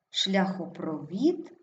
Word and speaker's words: шляхопровід: також наголошений третій склад шляхопровід наголос падає на і цей четвертий склад наступне завдання у всіх